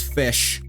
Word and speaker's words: Ghoti: time just because our language has very flexible pronunciation rules case in point my name is fish so they have monks